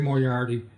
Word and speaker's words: Moriarty: I would say my name, Moriarty. I would say, I'm more arty than you are.